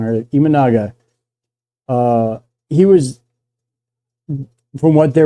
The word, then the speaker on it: Imanaga: I pronounced it wrong earlier. Imanaga.